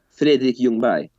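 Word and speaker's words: Freddie Ljungberg: else since could you give us that correct pronunciation of Freddy youngberg again that sounded beautiful uh fi Yung B wow okay I I don't think I'm gonna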